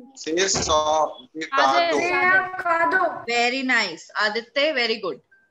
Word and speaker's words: cadeau: C'est son de cardiac. Ma'am, c'est son de cardiac. Okay. C'est son de cardiac. Anybody with correct pronunciation? C'est son de cardo.